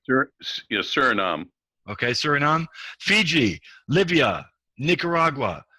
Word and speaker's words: Suriname: How do you pronounce that, Greg? Suriname? Is that right? Yes, Suriname.